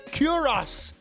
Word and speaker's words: cuirass: just call it cuirass? No. No, it's cuirass. That's how you say it.